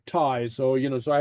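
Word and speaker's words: taigh: a or or you it's pronounced very much like the English Dona which bad or Tai I which means house and pronounce like a like Tai so you know so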